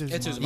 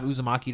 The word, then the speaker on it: Uzumaki: Or is it Uzumaki? It's Uzumaki. Yeah, I have Uzumaki to read.